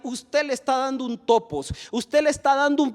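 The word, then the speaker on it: τόπος: Lugar viene de una palabra en griego que se pronuncia topos, que en el castellano se diría topografía.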